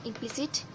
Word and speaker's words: implicit: Engine, in the first syllable you have to pay the focus or you have to pay the stress, and in the second one implicit, on the second one emphatic, on the second one and happy.